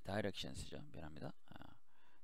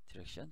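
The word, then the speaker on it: direction: s를 붙여야 돼요 그래서 다이렉션스죠 디렉션 다이렉션에서 디렉션 다이렉션은 발음의 차이죠 디렉션은 미국 발음 다이렉션은 그래서 저는 보통 이제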